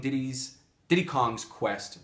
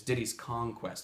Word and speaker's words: Diddy's Kong Quest: for you guys who grew up saying Diddy's Diddy Kong's Quest versus the correct way which is Diddy's Kong Quest because it wasn't until